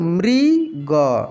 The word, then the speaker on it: मृग: ध्यान रखना है कि जिस अक्षर में मात्रा जुटा है ना, उसको उस मात्रा के साथ उच्चारण करेंगे। मृ, प्री, ऐसे बोलेंगे, ठीक है। तो मृग, मृग।